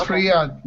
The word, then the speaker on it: Riad: hello everybody okay and Riad am I pronouncing your name correctly how do you say your name yeah that's totally correct it's it's Riad just like this just perfect zad how's it going